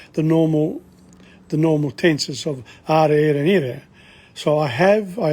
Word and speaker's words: ho: italian it's yo o the h is not pronounced no i didn't give